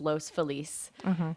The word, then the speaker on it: Los Feliz: police though it is you're gonna say it with the correct Spanish pronunciation it is Los Feliz okay but everyone in LA says most felis Los Feliz every like white person